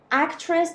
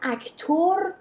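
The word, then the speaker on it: actor: اکترس به معنی به معنی بازیگر زن. حالا بازیگر مرد چی میشه؟ اکتر. حواستون باشه اینا رو اکتور لطفاً یا دیرکتور تلفظ نکنید. اکتر، دیرکتور، اکترس.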